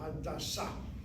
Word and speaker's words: Hadassah: Again, the hospital name, hit the last syllable, Hadassah, Hadassah.